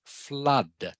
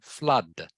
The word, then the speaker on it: flood: So it is pronounced like it has a U in there instead of two O's. Okay. So can you say it for me, please? It is pronounced flood.